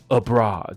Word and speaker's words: abroad: 加一个 a 在前面， abroad 搞定， OK，就是 r 的音， abroad。